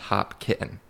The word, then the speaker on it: Hopkinton: Hopkinton but it's pronounced hop kitten like hop and kitten the animal really not kidding yep